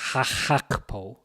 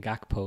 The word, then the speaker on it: Gakpo: Poor crossto cleared by holy hakpo because apparently saying gakpo is not the right way to say it.